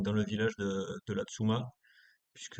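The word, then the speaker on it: La Tzoumaz: le village de de Latsuma puisque a priori les Suisses ne prononcent pas les aides finaux dans les mots. Donc on dit la Tsuma ouais Savoya peu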